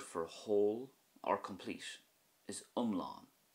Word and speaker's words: iomlán: For example, the Irish word for whole or complete is umlán, umlán. So that has a short sound at the start with more emphasis on the A fada at the end, as in umlán, just like we discussed